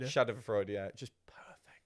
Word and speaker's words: Schadenfreude: Schadenfreude. Schadenfreude, yeah.